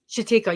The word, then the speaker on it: Chatika: I think I'm saying it right? Chatika? Chatika. Yeah. Yeah. She told me that I was saying it correctly.